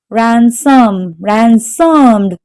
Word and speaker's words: ransomed: Ransomed. So the stress is on the first syllable.